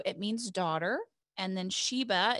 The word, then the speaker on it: Sheba: means daughter and then sheba is hebrew it can also be pronounced shaba and it means to